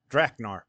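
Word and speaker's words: Dracknar: Like dragon. Like dragon.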